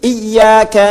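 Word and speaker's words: إِيَّاكَ: Ah, ada orang-orang yang membacanya tanpa tasyahdid. Hamza memiliki vokal kasra, yaitu 'iyaka', kan? Iyaka. Jadi kalau kita membacanya dengan tashdid maka itu adalah 'iyyaka na'budu wa iyyaka nasta'in'.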